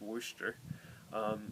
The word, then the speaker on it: Worcester: worcester uh it looks like worcester but it's pronounced worcester it's a school of about 900 to 1000